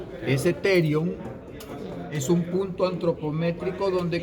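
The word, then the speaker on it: pterion: a conocer con el nombre de terion. Se escribe con P. Ese terion es un punto antropométrico donde converge el ala mayor del esfenoides, el temporal, el parietal y el frontal.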